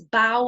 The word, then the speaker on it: bough: This is bough of a tree. So it's like a thick arm of the tree, a bough, okay? So this is not so common, this ow sound.